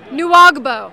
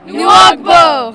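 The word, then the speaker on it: Nwagbo: How do you pronounce his name? Okay, Ogemdi. Say it after me. Ogemdi. Ogemdi. Nuagbo. Nuagbo.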